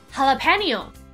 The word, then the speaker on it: jalapeño: 这字看起来跟听起来为什么会差这么多呢？就是因为它是来自于西班牙文。那在西班牙文里面呢，它的 J 通常不是发 J 的音，而是发 H 的音。